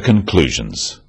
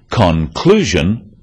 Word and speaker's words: conclusion: Let's move on to the conclusions. About our products. After-sales service is critical. Stress occurs in words and sentences. In words, one syllable is stressed. The wrong stress makes it hard to understand. So, conclusion, not conclusion.